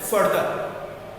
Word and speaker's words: further: But here it is fur, long sound, fur.